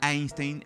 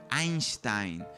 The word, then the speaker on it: Einstein: esa lengua por ejemplo decimos albert eisntein en inglés cuando un alemán sería más bien albert einstein quizás en español deberíamos